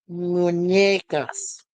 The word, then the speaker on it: Muñecas: So it's Isla de las Muñecas. You have to really pronounce the N because that has a tilde on it.